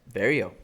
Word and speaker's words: Barriault: Before that, you had Azaitar versus, how do you pronounce his name? Barriault? Barriault. I was close. Barriault.